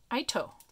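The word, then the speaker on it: Aitoh: made by a company oh it's um ito i think that's how you say it a-i-t-o-h i got this from um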